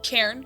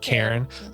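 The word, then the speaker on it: cairn: How do you how do you pronounce it? C A I R Karen. Karen.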